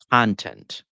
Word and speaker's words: content: Content is an adjective, Mhm. content is a noun. Start with that right there. You can really take this one to the bank. Two syllables, stress the first one, you have a noun. Stress the second, you have a verb or an adjective.